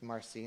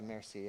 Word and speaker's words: merci: thank you merci um that was a mischief marcy not a mercy in french or a butchered french